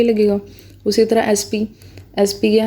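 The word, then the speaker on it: SP: उसी तरह एसपी, एसपी क्या है? एस पी, ठीक है। तो एसपी में एस लगाया आपने, ठीक है, ए लगाया, प्रोनाउंसिएशन में ए क्या है? एक वावल है, वावल होने के नाते यहाँ पे एन लग गया।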